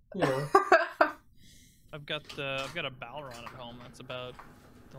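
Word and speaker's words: bodhrán: I've got a Balron at home. That's about the only instrument I still have around. What's a ballroom? Balron?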